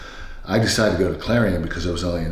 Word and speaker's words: Clarion: So how did you end up at, am I pronouncing it right, Clarion University? Clarion, yes.